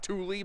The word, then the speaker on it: Thule: fuel thing is pronounced thule by the way it's some kind of scandinavian pronunciation i'm sure um there's